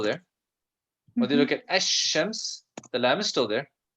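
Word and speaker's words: الشمس: lamb is still there the difference is we don't pronounce it in the sun okay this is an important lesson especially when it comes to reading quran because you know in the quran we can't say al-shams okay so now i'll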